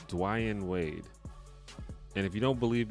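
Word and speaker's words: Dwyane Wade: his name weird because he spells it D-W-Y-A-N-E, Dwayne Wade. But then if you listen to him talk and you listen to him say his own name, he says it the way it's spelled. Everyone else just says it wrong. Like, everyone says Dwayne Wade, but it's Dwayne Wade.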